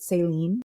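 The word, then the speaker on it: Céline: uh I miss Seline the word saline I pronounce it saline like I don't know maybe that's just a remnant of like Canadians sometimes trying to say things the French way and saline is a French house like I I oft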